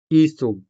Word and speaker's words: isog: As you can see, these words are spelled with the letter I and sounded with the native Hiligaynon vowel E.